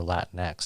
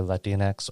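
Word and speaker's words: Latinx: term that DNX or Latin X depending on how you pronounce it and you know no there's no I don't think there's a right way to pronounce it I think either let Dean X or Latin X seem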